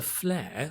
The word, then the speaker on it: flair: If you want to say someone is talented, you can say she has a flair for writing books, making films. She has a flair. Flair pronounced like fair, hair.